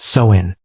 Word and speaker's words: Samhain: And the most powerful night of the year was October 31st, the festival of Samhain, pronounced Samhain.